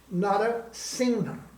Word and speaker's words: Narasingha: I don't spell it the same way I spell my name, but my name was given to me in Bengal, and they don't say Simha, they say Singha.